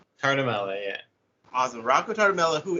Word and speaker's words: Tartamella: I should have asked for him how to pronounce his last name. Is it Tartamella? Tartamella? It's Tartamella, yeah.